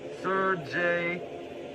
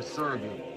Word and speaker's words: Sergei: of his tax lawyer, Sergei Magnitsky, or Sergei, because technically that's how Magnitsky's first name is supposed to be pronounced.